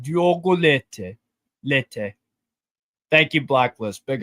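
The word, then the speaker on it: Leite: I just looked up on a pronunciation thing. It's like Diogo Lete.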